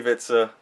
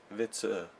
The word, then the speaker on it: Vitzer: You didn't pronounce it right. Oh my god. It's my last name.